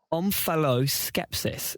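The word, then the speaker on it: omphaloskepsis: easy words but if if I get the pronunciation wrong I won't be able to correct youal skepsis I'll say it again omalos skepsis spell o m p h a l o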